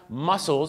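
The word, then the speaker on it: mussels: กล้าม เนื้อ หรอ ครับ ที่ จริง ออก เสียง เหมือน กัน แต่ สะกด กัน ไม่ เหมือน กัน นะ ครับ muscles ก็ คือ หอย แมลง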